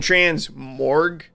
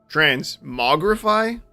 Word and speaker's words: transmogrify: all day I've put I'm putting the r in the wrong spot is I'm saying trans morgue if I but the r is after the dree transmogrify I think might be